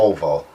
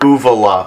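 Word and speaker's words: uvula: back of your throat oval say it pronounce it again the O oal you're close but I can't I can't give it to you it's the UA UA yeah let's Shuffle I'm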